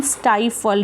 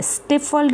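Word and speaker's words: stifled: Sorry, इसकी actual pronunciation स्टाइफल्ड है, स्टिफल्ड नहीं है, ठीक है. प्लीज़ इस बात का ध्यान रखना, इट इज़ स्टाइफल्ड नॉट स्टिफल्ड, ठीक है.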